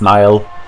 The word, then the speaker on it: Nile: Neil is just everyone mispronouncing his name. It's Nile.